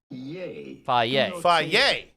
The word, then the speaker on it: Fage: We are looking at how to pronounce Who's this guy? Fay.